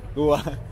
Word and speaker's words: dừa: Khó Khó quá Trang biết khó quá You pronounce D-U-A Don't pronounce by spelling You say dừa It's dừa. Not dừa Ah, okay, okay Dừa Dừa Who want to pay?